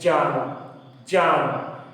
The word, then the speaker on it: ज्ञान: और अगर इसको हम ऐसे ज्ञान शब्द लिखते हैं, ज्ञान का अगर सही उच्चारण संस्कृत की व्याकरण के हिसाब से किया जाए तो उसको बोलेंगे ज्ञान, ज्ञान।